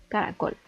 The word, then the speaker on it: caracol: recae en el amarillo caracol esta palabra está dividida en tres sílabas en la celaba tónica recae en la última sílaba después tenemos la palabra